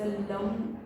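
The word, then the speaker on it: लं: आहे लम आता हेच लम एल ए एन लम उच्चारण कसं करावं हे मी तुम्हाला सांगते बघा असं लम अशा पद्धतीने 236 हज फ्रिक्वेन्सी मध्ये तुम्हाला ह्याच उच्चारण करायच आणि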